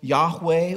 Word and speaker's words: Yahweh: the yodej in the hebrew language and that's pronounced yahweh or jehovah but often when the hebrews prayed